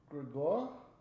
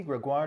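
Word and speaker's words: Grégoire: That would be Sophie Gregoire Trudeau.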